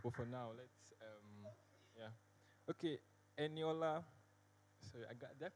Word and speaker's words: Eniola: So we'll circle back to you, Ruth, but for now, let's, Okay, Eniola, sorry, did I pronounce that right? Yes, Eniola.